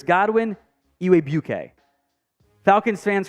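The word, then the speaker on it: Igwebuike: a tricky name uh I believe it's pronounced ewe UK there's a w and a g uh mixed in there pretty sure it's Godwin eway bouquet Falcon's fans correct me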